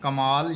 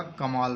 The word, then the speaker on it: کمال: زبر لگانی ہوتی ہے۔ کمال یعنی کاف کے اوپر زبر آئے گی، میم کے اوپر زبر آئے گی اور لام ساکن ہو جائے گا، کمال بن جائے گا۔ اپنا